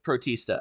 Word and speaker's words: Protista: I think we're going with Protista. I think that's like Batista, but pro. Yeah. Yep. Yes. Yep. That is 100% how you say it.